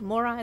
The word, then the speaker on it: Moray: that is cool so it's spelled m-o-r-a-y but it's pronounced Mori the more I ruins